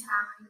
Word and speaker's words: Hallie: It's not Haley. Is it Haley or Hallie? It's Hallie. It's Hallie.